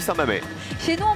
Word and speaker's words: Saint-Mamès: Eh bien, en fait, j'ai décidé d'aller à Saint-Mamès. À Saint-Mamé? Ah oui. Ça s'écrit Mamès, mais on dit Saint-Mamé.